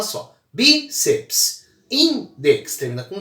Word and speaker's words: bíceps: Bíceps. Veja que seps é uma sílaba só, não existe a sílaba PS, tá bom? Isso não existe. Seps é uma sílaba só. Bíceps.